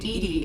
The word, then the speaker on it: EDI: airlock is a jar why are you named dd is the phonetic pronunciation of edi that is an acronym for